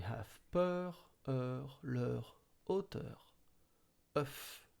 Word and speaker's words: œuf: O plus U are silent. So it goes like œuf. E plus F.